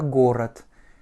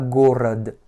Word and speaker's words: город: Mon second O étant inaccentué, il va se prononcer comme un petit A, et mon D étant une consonne voisée, va se dévoiser, puisqu'elle est en finale. Donc elle va se prononcer comme un T. Это город, et pas город.